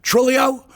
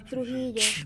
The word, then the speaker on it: Trujillo: When I think of that, I freaking think of Stephanie Trujillo. Did I get it right this time? Trujillo. How do you say it? Trujillo.